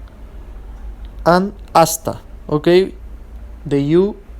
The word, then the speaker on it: hasta: oh la prohibida and hasta okay the you the i surday H is not pronounced it's silent they mean respectively hello